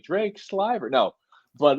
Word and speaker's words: Sliver: pleasure and I forgot to ask did I pronounce it right I went with what I assumed for the last yeah it's actually sver it is slver yeah it is slver but you know I I get silver shiver you know you get stuff spelled every